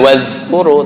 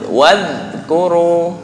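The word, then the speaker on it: واذكروا: Nah, kembali lagi, bukan wazkuru tapi wadhkuru. Dicepit gigi atas.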